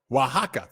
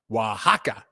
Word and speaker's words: Oaxaca: Thank you, you guys, for helping me out with my pronunciations here. Oaxaca. Thank you very much. Thank you, Reggie. Thank you very much, Reggie. Oaxaca.